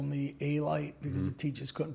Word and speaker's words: Alite: So if I'm in Europe, I pronounce it correctly. When I'm in my neighborhood, it's a light or it's elite when I'm here.